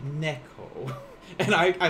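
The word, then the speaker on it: ねこ: joking or not but he said instead of for cat he said nico but it's actually neko and i i like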